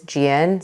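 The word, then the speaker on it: Jieun: Cole has the story my first name is Gian so that's spelled j-i-e-u-n born in Seoul South Korea gianco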